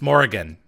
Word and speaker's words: Morrigan: Oh, It's Morrigan.